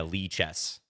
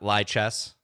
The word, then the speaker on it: Lichess: patron on lee chess how do you say lee chess exactly like i just said it yeah lee chess yeah not lie chess not lichens if it autocorrects on